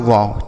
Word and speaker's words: wow: पढ़ती है वाह, और देखिए अगर OW लास्ट में होता है तो उसका उच्चारण आओ होता है। क्या होता है, आओ, तो यह लिखा है वाव।